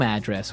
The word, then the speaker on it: address: So different from your home address where you live. Yeah. And there the stress is on the first syllable. Address. Right.